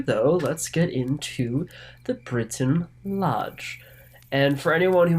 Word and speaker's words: Brinton: let's get into the Britain Lodge and for anyone who might be curious It's not actually spelled Britain it's b r i n t o n so br is probably the proper pronunciation but I'm probably not